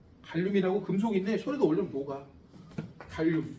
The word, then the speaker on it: 칼륨: 발음 잘해야 돼. 갈륨은 또 있어. 따로 있죠. 갈륨은 녹는 점이 17표야. 손바닥에 올라오면 녹아. 어 갈륨이라고 금속인데 손에다 올려면 녹아. 칼륨 G.